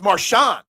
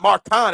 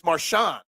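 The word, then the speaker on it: Marchand: Den Brew is right it's marshan it's not Maran it's marshan why don't they just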